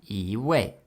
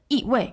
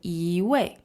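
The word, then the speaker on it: 一位: way right e way so in Mandarin often we kind of soften the flow of the sentence so we say e way e way right so when it's followed by a fourth tone it becomes a second tone and how about the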